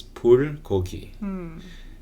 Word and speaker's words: bulgogi: it, but it's like bulgogi or something. How do people say it? Do you know? Bulgogi. Yeah, there you go. It's the hard G, the hard B.